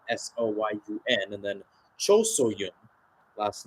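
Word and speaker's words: Cho So-hyun: Should mention, got Ji So-yun, last name spelled S-O-Y-U-N, and then Cho So-yun, last name spelled S-O-H-Y-U-N. So different spelling, but pronounced the same.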